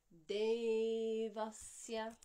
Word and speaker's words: Devasya: Dental D, followed by an aspirated dental D. Dhimahi. Long E followed by short E. And this Devasya, I forgot to say that this E is a 2-count vowel and the A is only a 1-count vowel. So it's Devasya, not Devasya or Devasya. You can hear the difference between Devasya and Devasya.